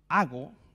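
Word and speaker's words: ἄγω: o guiados, ahí es la palabra en griego ago, con acento en la A, que significa direccionar, significa inclinar.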